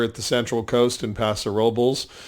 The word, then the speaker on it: Paso Robles: We love going to Tobin James over at the Central Coast in Paso Robles, or Paso Robles, if you want to say it correctly.